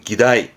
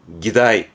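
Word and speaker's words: 議題: 발음은 기다이. 기다이.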